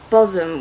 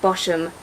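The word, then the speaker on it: Bosham: on the Sussex coast that's called Bozzum, which is spelt Boshum. So we were calling it Boshum until we went, because that's what you do.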